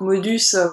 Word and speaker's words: Maudus: Donc modus comme mode M-A-U-D.